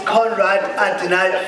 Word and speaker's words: Konrad Adenauer: So also, it's Konrad Adenauer Foundation. It's fine. Scanswena ka pronounce ki, you know, Ndoka. So it's it's Conrad Adonai Foundation.